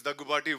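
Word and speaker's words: Daggubati: ladies and gentlemen I I pronounced it correctly or not finally after 13 years they got my name right it's dagupati well done sir congratulations on that thank you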